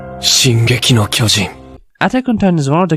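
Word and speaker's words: 進撃の巨人: attack on titan or pronounced in japanese as shin gekino kyoji atakantan is one of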